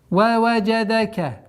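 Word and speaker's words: ووجدك: Ваваджадака. Это слово повторяется, как и в 7 аяте. Ваваджадака. Вот здесь удлинение в размере 4 огласовок. Обратите внимание, есть звук айн, а есть звук фатхи. Нельзя останавливаться на самом звуке айн без огласовки фатха. Есть это звук, а где фатха добавляем Ваваджадака удлиняем 4 раза.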